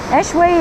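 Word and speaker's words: échoué: business is it e it's pronounced e b it's French for wash to shore jewelry eway is a eway means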